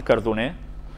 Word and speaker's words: Cardoner: Ya veis que lo pronuncio en catalán, Cardoner.